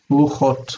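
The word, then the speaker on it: רוּחוֹת: But the plural does have two syllables and it is? Ruchot.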